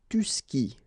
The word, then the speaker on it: tu skis: And then, tu skis. Exactly the same thing, even if you get this s. Well, actually, the is mute. You don't pronounce it, so you don't pronounce the final s either.